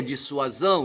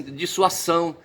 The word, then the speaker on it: dissuasão: Eu vejo o pessoal falar ler dissuasão ou pronunciar dissuasão, tá certo? Mas com um som de S, dissuasão. Bicho, não é não, rapaz. O som do S aí, tá certo? Ele é som de Z, ele é consonantal e não vocálico, entendeu?